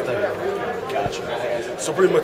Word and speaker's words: Thug: but it's pronounced thug.